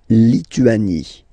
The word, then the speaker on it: Lituanie: La Lituanie. Remember in French, sorry, H doesn't exist, okay, so you don't pronounce it, and it's li, tu, a, ni, Lituanie. La Lituanie.